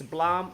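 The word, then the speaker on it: Blame!: it is but that long but it's it's Blom and it's based upon a really popular manga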